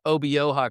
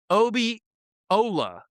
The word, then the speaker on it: Obioha: Right after he said it wrong, he corrected himself, said Obioha correctly. But his first attempt, he threw an L in Harlan's last name. Obiola.